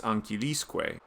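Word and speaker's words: ancillisque: is a conjunction serruis ankilisque is synonymous with cereus at ankilis notice how the accent shifts to the syllable before the enclitic when an enclitic is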